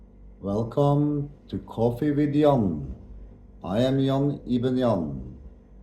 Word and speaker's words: Jann: Arabic, Islamic call the character Jann Ibn Jann, Jann Ibn Jann, and or, which is totally wrong pronunciation.